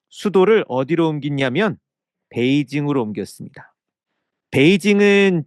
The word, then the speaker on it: 베이징: 베이징은 중국어 발음으로 읽은 거고요. 한자를 그대로 우리말로 옮기면 북경이라고 합니다. 그래서 여러분 옛날 책을 보면 북경이라고도 돼 있을 거예요.